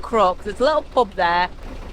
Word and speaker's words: Crooke: I've just moored up here now in the village of Crooke. Not like the villain, it's spelt C-R-O-O-K-E. And I'm right opposite the pub.